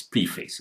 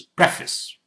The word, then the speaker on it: preface: This one, most people mispronounce it. Preface, fis, almost like FIS, fis. It's written as preface, but it's not pronounced as preface. It's preface.